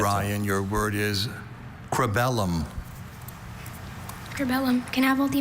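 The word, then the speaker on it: cribellum: That first vow is the tricky part here. Crabellum. C R E B E L L U M. Cellum. Crabellum is C R I B E L L U M.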